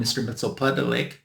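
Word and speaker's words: Mxyzptlk: actually being Mr mitel that's how I pronounce his name I know some people call him Mr mitel gosh that's not easy to say uh I call it Mr mitel because that's the way they pronounced him in the Super Friends cartoon when I was a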